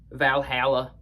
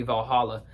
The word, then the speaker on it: Valhalla: The lawmaker, Valhalla, that's how they say it in the song even though it should be Valhalla.